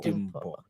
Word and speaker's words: Dimpo: pronounce it Dimple. Dimpo.